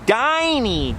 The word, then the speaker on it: Dinny: I used to always call this one Dinny because its name is spelled D-I-N-N-Y, but it turns out its name is actually Diney.